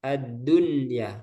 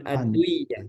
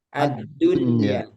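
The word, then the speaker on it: الدنيا: dibacanya jelas Ustaz dibacanya jelas addunya bukan adduya tapi addunya addunya nah sinwunwunyun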